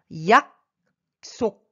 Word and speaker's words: 약속: 약속, 약속. Ici, la lettre S, ça se prononce S.